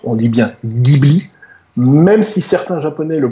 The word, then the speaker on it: Ghibli: pour sa bible y c'est un mot italien ça se prononce avec un g dur on dit bien ghibli même si certains japonais